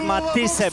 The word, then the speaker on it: Matthysse: no i jej rywalka Edith Matthysse, bo tak się powinno je wymawiać, ma holenderskie pochodzenie, 16 wygranych, 10 porażek, 1 remis w czarnej spódniczce.